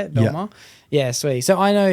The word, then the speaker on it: Belmar: Belmar, that's how you say it. Yeah. Belmar.